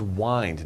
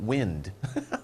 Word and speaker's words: wind: similar uh this is wind not wind okay spelled the same but different pronunciation twist means to twist